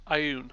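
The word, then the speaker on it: Ioun: a holy symbol of Eon on it. Am I pronouncing that right? Ayun. Ayun, yeah. Okay, Ayun.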